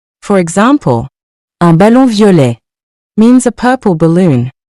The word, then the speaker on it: violet: The next color is violet, meaning purple. We also don't pronounce the final T in this word. For example, un ballon violet means a purple balloon.